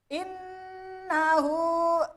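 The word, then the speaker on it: إنه: Innahu inna. Nah, ini dibaca gunah dengung. Hurufnya ada dua, yaitu nun tasjid dan mim tasjid.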